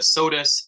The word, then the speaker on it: Sodus: in advance for the sodas Central School District and apologies if I've mispronounced it nope uh soda Central School District that's perfect it's J rosscup uh here and representing uh Sodus is the lead Education